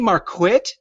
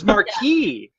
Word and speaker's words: Marquit: Is it really Marquit? Is that how you pronounce Miranda's last name? I thought it was Marquis.